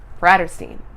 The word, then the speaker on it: Bratterstein: My name is and my channel name is pronounced BRATTERSTEIN. Like Catterstein. Or Fatterstein, but Bratterstein.